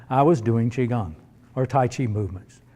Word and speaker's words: qigong: right okay that is Qigong it's pronounced eh i gon g the CH is actually spelled qi in chinese q is pronounced CH the way we pronounce CH so you could say